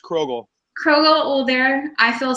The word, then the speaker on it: Krogull: introduced me correctly really really yes it is pronounced krogel krro old there I feel so good you